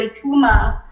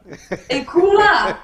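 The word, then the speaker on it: Eucheuma: And I kept thinking about the word Ekuma. And then I said, it's spelled E-U-C-H-E-U-M-A. And then I said, oh, in Creole, phonetically, that would be I-K-O-O-M-A. Yeah. Ekuma.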